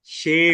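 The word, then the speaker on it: Shem: पर जोड़ देना है अपन उसको शेम को साम नहीं कह सकते साम दूसरे का नाम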